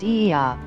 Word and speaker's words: Oia: is the quintessentially santorininian town of oia also spelled ia and pronounced eeya with its whitewashed walls sunk